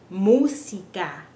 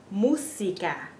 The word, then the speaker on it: música: Música. And notice that there's no Z sound. In Spanish in English we say music, like it's a Z. In Spanish, our S's are pronounced S. Música. Música.